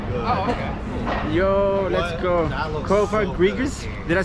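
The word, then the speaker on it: Cofagrigus: Kofa Grigas. Did I say it right? Kofa Grigas. Yeah, Kofa Grigas.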